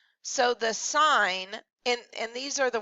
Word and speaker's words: sin: and this does not say sin so I know you're going to think that and you're going to say math is the devil and all that good stuff but it is not you still pronounce this sign all right so the